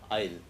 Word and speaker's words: isle: Now we see that effect of that end e on I eyes isle that s is silent i bite bride k it sight sight climb child this is side side child climb crime dice dine dive Drive.